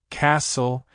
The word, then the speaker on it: castle: For example, listen, castle, and whistle all have silent T or silent S.